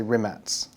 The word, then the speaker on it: Rimac: Or should I say Rimats? Are you pronouncing it properly? No, we're saying Rimac. Rimac. We have to anglicise everything.